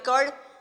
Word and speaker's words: chord: इसको बहुत CHORD, भैया प्रोनाउंसिएशन में चेंजेस आ सकता है क्योंकि कुछ लोग इसको चॉर्ड पढ़ते हैं, ठीक है, बट हम क्या बोलते हैं इसका? कॉर्ड। तो कॉर्ड से फिलहाल मान के चलेंगे, ये आगे कॉर्ड।